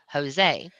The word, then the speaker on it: Jose: seen it written right because it's pronounced with a h Jose right phonetically it would be Jose yeah well honestly phonetically